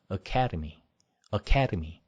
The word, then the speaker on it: academy: 그리고 아카데미 이거 아니고 캐에 강사했습니다. 두 번째 음절을 강사했어요. 그래서 academy 이렇게 발음을 하셔야 됩니다.